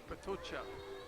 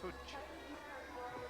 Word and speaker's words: Potočar: Let me hear the Slovenian pronunciation of his surname. Luka. Potočar. Potočar. Yes. I was going to say Potočar, okay. Potočar.